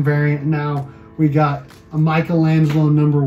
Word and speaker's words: Michelangelo: What's really interesting is that TMNT, they used to spell it Michael Angelo, and now it's Michelangelo.